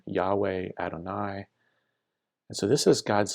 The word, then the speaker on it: Adonai: In Hebrew, Yud He Vav He, pronounced Adonai out of reverence.